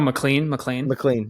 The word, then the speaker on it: McLean: I'm blanking on how you pronounce his last name. Oh, McLean.